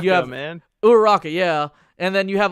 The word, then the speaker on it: Uraraka: like a cereal brand where they have like Uruchako, I forgot how to pronounce her name, Deku, Uraraka, you have man. Uraraka, yeah, And then you have all these different anime characters, and it's just different cereals.